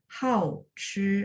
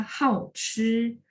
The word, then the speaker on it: 好吃: Maksud saya ya, dia bisa kalau artinya hobi makan, dia harus dibaca hao chi. Tapi kalau enak, lezat, kita bacanya hao chi ya.